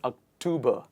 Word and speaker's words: October: what is this month it is october not october let's do it together together please tober october where do we put the stress is it october is it october or